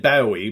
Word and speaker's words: Bowie: In fact, David Bowie, all right, I know a lot of you Brits say David Bowie, but David Bowie to all us Americans.